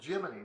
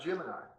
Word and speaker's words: Gemini: and I is how most people say it but it's not it's jiminy Gus Grissom pronounced that jiminy therefore it's jiminy not Gemini so remember that the